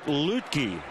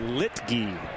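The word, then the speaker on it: Luetge: maybe some spoons Lucas luty he's now on for the Mariners against Dave sapel actually pronounced litkey Lucas litkey l u t g e here Major League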